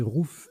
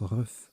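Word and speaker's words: RUGH: Notez Rouf, R-U-G-H, a également 33 points. Ça se prononce Ruf, pardon.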